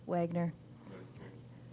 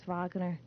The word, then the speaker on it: Wagner: alone in English uh in English my name name is pronounced Wagner but in German I believe it's pronounced Vagner anything else whatever you